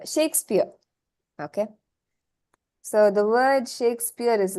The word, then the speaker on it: Shakespeare: like this right shakespear so English is very funny you pronounce it as she but you see the spelling is sh a right so let's not look at the English spelling but the pronunciation so you have the sound SH now how do you